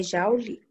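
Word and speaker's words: joule: que que é jolie jolie chama jolie é jauli jovens que se escreve como se fosse joe essa unidade de energia né escreve assim né mas é você lê como ja rule ah tá ah tá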